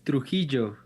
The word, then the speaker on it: Trujillo: It says Trujillo.